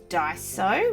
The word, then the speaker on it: Daiso: little while ago and I went to die so which i think is how you pronounce it some lovely people on my channel explained how to say that word so I went to